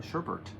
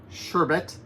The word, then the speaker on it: sherbet: did you know that it's not Bert b-e-r-t it's b-e-t is the correct spelling of it so why do we call it Sherbert I don't know I don't think that's the correct way to say it but yes orange